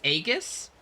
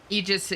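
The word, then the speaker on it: Aegis: You pronounce it as agus. You say a, not e. Eegis is in theory the most correct pronunciation. Though English is so far removed from ancient Greek/in that real pronunciation is kind of redundant. Yeah. Um, I do know that the ae is e though.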